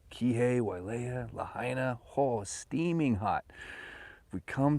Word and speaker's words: Lahaina: i'm saying it right it's not lahina right it's lahaina it's not canapali right it's